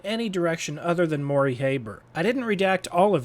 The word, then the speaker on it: Haber: First, the name is pronounced with a long A as in Haber.